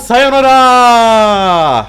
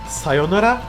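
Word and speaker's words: さようなら: için abone olun C Sayanora He pardon bu arada sayonara sayonara diye de okunabiliyor hani arada u var Bir tane de uzatıyorsunuz uyu Neyse Arkadaşlar bugünlük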